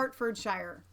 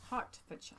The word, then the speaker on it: Hertfordshire: Have a It's lovely pronounced birthday. Hertfordshire. Hertfordshire.